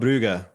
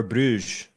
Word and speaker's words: Brugge: We have Club Brugge or Bruges, depending on which pronunciation you want to go with.